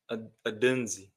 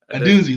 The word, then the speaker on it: Odunze: Odunze. Odunze. There you go. I honestly want to find the right pronunciation because I don't want to butcher the man's name.